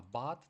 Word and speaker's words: but: Пам'ятаєте, якщо оця буква у стоїть посередині між двома приголосними, вона не стільки у читається, скільки а. Тому слово читаємо це не бут, а бат, тому що буква у зажата між двома.